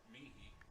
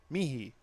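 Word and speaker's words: Miehe: Meehy. Mihi.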